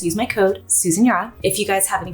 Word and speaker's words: Susan Yara: I'm at Susan Yara. Susan Yara. I'm trying to embrace who I used to be, my original form. It's Susan Yara. Okay, that's how you pronounce it.